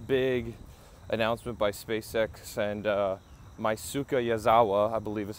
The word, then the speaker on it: Yusaku Maezawa: And I thought I would come somewhere this morning after this big announcement by SpaceX and Yusaku Maezawa, I believe is how you pronounce his name, that SpaceX and planet Earth are coming back to the moon.